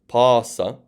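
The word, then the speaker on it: πᾶσα: Okay, so the reason I'm saying pass, pᾶσα, pan with a long alpha is because there would be a circumflex on these alphas.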